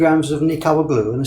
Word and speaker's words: nikawa: Yes, if I have 50 50 g of nikawa glue and the spelling there is a bit strange. We usually spell it n i k a w a nikawa.